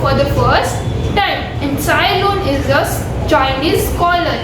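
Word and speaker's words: Tsai Lun: સાયલુન, TSAI. Over here T is silent. Sailun.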